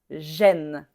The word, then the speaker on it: gêne: En fait, c'est la même prononciation que le e accent grave. est même chose ici. Donc pareil, gêne, gêne, même prononciation. L'accent grave sur la lettre E et l'accent circonflexe sur la sur la lettre E se prononcent de la même façon.